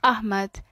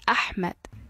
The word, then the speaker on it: Ahmed: dhawaaqaagu waa inuu saxnaada instead of saying my name is Ahmed you should say my name is Ahmed sidoo kale dadka native-ka